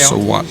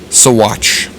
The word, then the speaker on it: Saguache: Saguache. Sure. Saguache. It is pronounced. It is spelled with a G. There's like a hair or something. It is spelled with a G. Saguache.